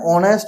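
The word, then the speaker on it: honest: দেখো অ্যান অনেস্ট ম্যান, উচ্চারণটা কি করছি?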